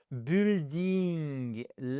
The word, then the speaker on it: building: Donc là vous avez size, age, color, origin, material et ensuite vous avez building et non pas building. première syllabe, c'est tout ça et le U ne s'entend pas.